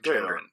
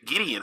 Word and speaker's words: Gendron: Gendron. Stephen. Gendron? Oh, I thought it was like Gideon for some reason.